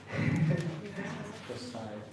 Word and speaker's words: Josiah: How do you pronounce it again? Josiah.